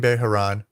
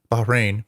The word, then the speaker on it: Bahrain: warns the uae and beharan baharan bahrain bahrain sorry i know i was saying it wrong bahrain um they will